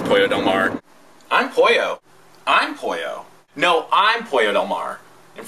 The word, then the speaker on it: Pollo: the Sea of course there's been some interesting interpretations of my name and some terrible mispronunciations i've been called Polo that one's very common which is pretty disgusting and my least favorite of all polio hello that's a deadly disease when I first moved